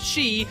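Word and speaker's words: 四: This was put in to freak out Japanese gamers as the number four is pronounced "shi", which is also the word for death.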